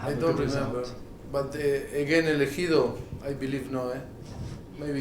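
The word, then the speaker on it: El Ejido: We saw that you lost to El Edo, is that right? Sorry? You were at Espanyol. You lost in the Copa del Rey to El Edo, is that correct? I can't pronounce it properly. Elegido. Elegido.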